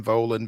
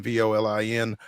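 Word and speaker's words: Volin: him on Twitter Ben volan Vin um am I pronouncing that correct it's not Vin or anything like that okay great I say it rhymes with stolen so you got it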